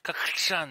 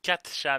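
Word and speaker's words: かっちゃん: カクチャン。Oui, mais vous l'entendez dire Kakchan, mais techniquement il dit Katchan, mais la prononciation est différente.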